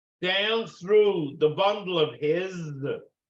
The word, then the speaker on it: His: sends the electricity down through the bundle of His that's how it's pronounced h-i-z bundler is and then splits into